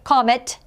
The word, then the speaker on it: comet: and the e so it's pronounced with the short o at the beginning right comet if we apply the